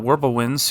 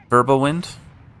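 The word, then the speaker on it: Wirbelwind: Stewart's going to be pretty good against these flack, these uh Worble winds here, verbal wind, cuz W's are pronounced like V's.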